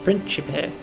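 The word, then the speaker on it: Príncipi: do seek to temper his actions when they would endanger the Principe altogether. Principe, that's how they say it.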